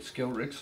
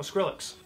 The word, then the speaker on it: Skrillex: Imagine they hired him, like Skillrix or whatever the hell. How do you say his name? Oh, Skrillex.